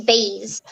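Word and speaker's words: Baize: Yeah, my middle name is Baze. Baze? Mm-hmm. Spell it.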